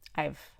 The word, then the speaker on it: I've: instead of saying i've i can just say i've i've i don't have to open my mouth all the way for the eye i could